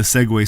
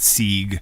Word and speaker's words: Segway: scooter for destroying like I thought that where you say Segway is SE GW a why but that's like the idiot version I'm a musician and in my head I was always reading that word sieg yeah yeah so thank